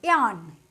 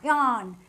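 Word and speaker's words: yawn: যখন ওয়াই ফার্স্টেই থাকে, একদম প্রথমেই থাকে, তখন আমরা ওটাকে অন্ত্যেষ্টর মতো উচ্চারণ করি। যেমন YOAWN, ইয়ান, ইয়ান না অন্ত্যেষ্ট, ইয়ান।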